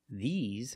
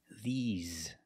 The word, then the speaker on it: these: together this this but when I say these for something plural these I use the long e like green beans the mouth is more closed and you smile a little bit e the these and the S makes a z sound like Zebra z you have a voice